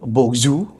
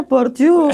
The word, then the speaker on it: Bourdieu: Yang pertama Pierre Bourdieu, benar-benar belum bacanya ya. Itulah ya, Pierre Bourdieu itu loh. Bourdieu. Itu kalau mahasiswa Nah, saya bilangnya Pierre Bourdieu.